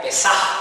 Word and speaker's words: Pesaj: es una palabra hebrea, Pesaj con J se pronuncia, y significa pasar por alto.